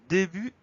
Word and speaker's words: début: Alors début, au début, ça s'écrit tout simplement D-E accent aigu et la deuxième syllabe bu, B-U-T. On a une lettre muette, le T, qu'on va retrouver dans le verbe débuter.